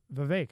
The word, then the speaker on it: Vivek: It's Vivek, like cake.